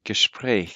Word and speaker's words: Gespräch: Yeah, let me just correct the pronunciation a little bit. Gespräch, because that a umlaut. Gespräch.